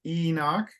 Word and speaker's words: Enoch: very good and uh it's Enoch I think you said Enoch so it's Enoch okay often in English the emphasis is is sooner than the Portuguese pronunciation and that hard word